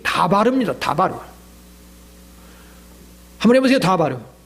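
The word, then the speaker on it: דָּבָר: 예수님은 어디까지나 아람어 히브리어를 썼는데 그 히브리어의 말씀이라는 발음이 다바르입니다. 다바르.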